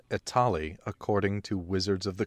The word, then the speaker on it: Etali: New York Italy it's it's like Holly from Mass Effect it's like Holly the